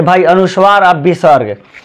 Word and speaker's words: विसर्ग: कथी है आपका, ये विसर्ग है। विसर्ग का उच्चारण ह से होता है।